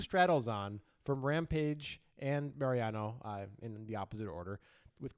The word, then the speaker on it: Mariano: Mariano. That's not how you pronounce it. It's Mariano.